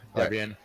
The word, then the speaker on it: Debian: I think people pronounce it different ways. I call it Debian. Is that what you call it? Yeah, Debian.